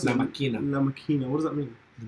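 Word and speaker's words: La Máquina: And how do you pronounce it? La Maquina. La Maquina.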